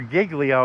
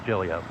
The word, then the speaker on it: Giglio: Or Giglio if you want to do the southern version, but yeah. Okay. The New York version from the proper Italian pronunciation or Italian Greek pronunciation is Gillio.